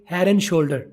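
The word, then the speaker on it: Head & Shoulders: शोल्डर ही बोलते हैं, उसे बोलते हैं हेयर एंड शोल्डर। हेयर एंड शोल्डर। अब हेड का डी आर में क्यों हुआ और एंड को पूरा नहीं बोला, सिर्फ एन बोल के हेड एंड शोल्डर को मिला के हेयर एंड शोल्डर बोला है।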